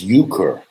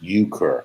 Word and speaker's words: euchre: into theology right now uh yookur oh it's euchre what is euchre i've done penny poker i've done pretzel poker we play pretzels of the family uh pronounced euchre okay got it thank you how was high